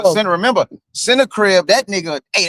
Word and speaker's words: Sennacherib: Uh uh Sennacherib. And when Hezekiah saw Sennacherib was coming Sennacherib, remember Sennacherib, that Hey, that was talking crazy.